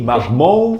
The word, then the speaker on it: Marmont: How do you say Gucci, Mermont? You gotta do the French style. Gucci, Marmont.